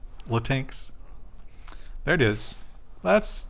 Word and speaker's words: Latinx: You have to pronounce the X. Latinx.